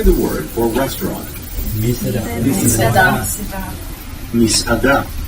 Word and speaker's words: מסעדה: Misada.